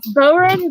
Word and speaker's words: bodhrán: Yeah, but it's pronounced like a bow running down the street. Bow. Yeah, so like it's bodhrán, but it's spelled like that.